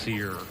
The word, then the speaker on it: Cyr: make an appearance here last name cyr pronounced seer so the first